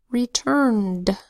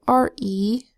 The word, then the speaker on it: returned: This is another word where ed says D. So returned is spelled R-E-T-U-R-N-E-D. Let's sound it out. R-E-T-R-N-D. Ed says D in returned, because the N before ed is not a D and it's not a T, and so ed is going to either say D or T in words like this, and in this word it says D.